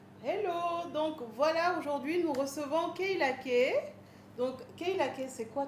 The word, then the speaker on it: Keyla K: préféré dire en français, on a préféré prononcer comme ça en français, Keila.